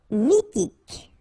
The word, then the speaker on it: mythique: Mythique. Remember, QU at the end, k, okay? And then Y is pronounced like I. Mi, H is not pronounced. T, k. Mythique.